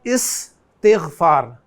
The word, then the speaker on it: استغفار: अलग से मैं लफ्ज़ बोलूँ तो मैं बोलूँगा इस्तिग़फ़ार।